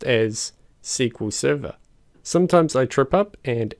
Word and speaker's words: SQL Server: pronounced as MySQL whereas Microsoft SQL Server is pronounced as SQL Server sometimes I trip up and accidentally use the